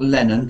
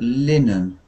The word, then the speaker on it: linen: let uh football linen linen not lenen but linen it's a kind of